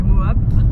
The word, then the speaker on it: Moab: Ouais, on est parti de Moab, qui se prononce pas Mob mais Moab.